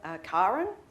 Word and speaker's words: Karen: And yes, I'm Karen. Note the pronunciation with a long A.